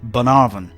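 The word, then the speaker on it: Bunnahabhain: more northerly Port Escape and the rather isolated Bonavaran distillery is well worth the effort. The strangelooking spelling with an abundance of consonants is actually pronounced Bonarvin, which can be quite misleading when you hear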